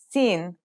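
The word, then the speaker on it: سين: Let's start with seen. Scene sounds just like the English s.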